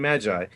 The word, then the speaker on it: Magi: Because as soon as you said Moggy, I was like, you mean Magi?